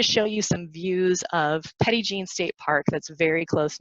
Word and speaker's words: Petit Jean: for those of you I know that's not the French pronunciation but that's how the locals say it so it's Petit Jean State Park it's beautiful